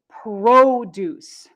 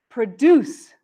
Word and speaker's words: produce: words in the future nouns often stress the first syllable produce produce produce and verbs often stress the second syllable produce produce so again we have produce and produce they are very similar but you can hear that with the noun the stress is first and with the verb it's second again this is not always